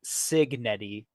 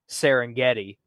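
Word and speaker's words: Cignetti: Dan, I don't mean to actually you, but I believe his name is Kurt Signetti, not Serengeti.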